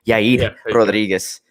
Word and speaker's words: Yair Rodriguez: Yair Rodriguez, Yeah.